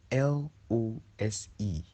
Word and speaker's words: lose: note of the pronunciations l o s e is pronounced lose l o o s